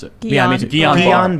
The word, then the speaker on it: Guillain-Barré: to Charlie, Guillain-Barré syndrome, which I'm probably pronouncing wrong, it's a side I effect. always mispronounce it. Yeah, me too. Guillain-Barré. Guillain-Barré.